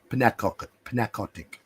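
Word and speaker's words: Pnakotic: Narcotic with a silent P. Don't know what that word is. Pnacotic.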